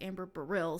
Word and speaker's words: Baril: Which it's not Amber Barley, it's Amber Baril, so make sure you pronounce that correct.